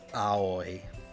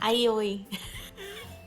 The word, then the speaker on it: Aoi: There's no Y sound in there. It's A-O-E. I-O-E. Yeah. So aoi. I-O-E. It's like saying owie, I-O. but like not in pain.